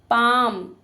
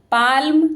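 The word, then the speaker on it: palm: back पीठ fist मुट्ठी पाम L silent है देखिए पाल्म नहीं बोलेंगे क्या बोलेंगे पाम हथेली लेग टांग फूट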